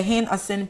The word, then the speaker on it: Hin-Assin: And they will be going with us for our projects from the 21st of September to okay, which is the Hin-Assin project. Did I pronounce that right?